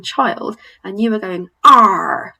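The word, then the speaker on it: 二: Number 2, we don't have an equivalent sound for in English. It's pronounced R, R, R. So some people think it's a little bit like how a pirate might sound.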